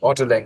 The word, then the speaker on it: Ottolenghi: But coming back to, how do you pronounce that chef's name? Ottolenghi. Ottolenghi.